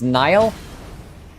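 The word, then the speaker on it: Niall: the blastus blade is pronounced Nile I don't care what it's pronounced I'm going to pronounce it phonetically until the game tells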